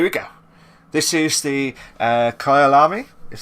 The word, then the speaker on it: Kyalami: This is the Kyalami, is how you pronounce it.